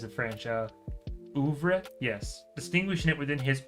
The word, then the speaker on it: oeuvre: Oeuvre?